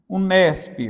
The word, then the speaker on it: Unesp: Então, você não pronuncia mais letra por letra, você pronuncia a própria palavra. Então, aqui, por exemplo, olha, Unesp, gente, vem daqui, ó, Unesp.